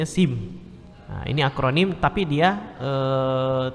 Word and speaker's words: SIM: Ya, dia tidak dieja SIM ya, dibacanya SIM.